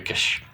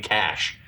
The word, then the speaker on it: Cash: Can't even say his name. Like, why can't you say his name? Why you can't say the name Cash? I don't. That's just how he says it. K E S H Kish.